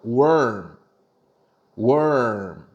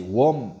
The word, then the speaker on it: warm: 자, were이라고 길게 발음하다가 갑자기 발음을 음으로 바꾸는 느낌으로 가시면 돼요. worm, worm. 자, 월만 길게 해보실게요. were 하다가 으로 바꿔봐요. worm, worm. 요게 정확한 발음이에요. 그래서 따뜻한 영어로 다시 warm 하지 말고 어떻게 worm.